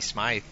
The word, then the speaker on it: Smythe: And it's actually, I see an H there, but in speaking with him yesterday, he pronounces it Anthony Smythe.